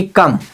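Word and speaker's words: come: ये क्या कहता है यदि किसी भी शब्द के अंत में आई हो क्या हो ए हो तो उसे ए का उच्चारण नहीं होगा जैसे लिखा सी ओ एम आई कम क्या लिखा है को एम आई इसको हम क्या पढ़ेंगे दोस्तों कोको का एम से मा कम ए का उच्चारण नहीं होगा राइट को नहीं पढ़ा किसी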